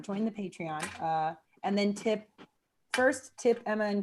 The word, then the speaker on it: Patreon: Did you say patron? Do it. Yeah, Patron. I never Patreon. say it right, y'all. I promise it's not the alcohol. It's It's the fact that Patreon. Two vowel sounds that just don't make sense in my weird Midwestern twang. Patreon.